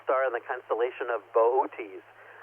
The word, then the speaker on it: Boötes: Arcturus is the brightest star in the constellation of Boötes. I know, it looks like it's spelled boots, but anyway, it's a shepherd.